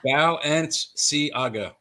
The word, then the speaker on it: Balenciaga: On the private chat, you'll see I broke down how you can pronounce Balenciaga a little easier. Oh, Balenciaga. Well, you got it right off the bat. Balenciaga.